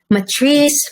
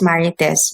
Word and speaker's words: Maritess: For Americans, masyado na lang minamurder yung pangalan ko. Matrice, Martis. As in, every day, kausap mo na siya araw-araw, i-correct mo pa rin, no, it's Maritess, Matrice.